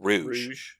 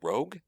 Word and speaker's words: Rogue: it was for rogue i pronounced it in my head rouge for years for years and then suddenly it clicked and somebody said it the other way and i was like a rogue what yeah i did